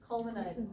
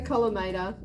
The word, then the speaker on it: collimator: Culminator. Is that M-O-N? Column. L-I-M-A-T. No, I've just made up a word. That's just culminator. Sorry. It's a collimator.